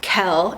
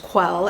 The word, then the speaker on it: Quell: which is actually pronounced Kell and you don't know until like you're 80 through the book that her name is not pronounced quell it's Kell this is dangerous never